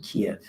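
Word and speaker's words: Kiev: about your trip to keev so I called him and I said what trip to ke in those days we pronounced it Kev he said well you're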